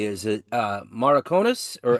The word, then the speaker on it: Maracanós: How do you pronounce it correctly? Is it Maraconas, or how do you say it? Yes, Maracanós. Okay, Maracanós.